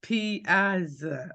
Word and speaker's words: Piazza: It's like pizza with an extra vowel.